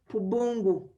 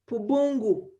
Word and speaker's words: Pubungu: traditional name around there called, around Pakwach, called Pubungu. I'm going to spell it. A capital P, a small u, that is Pu, then B-U, Pubu, N-G-U, Pubungu.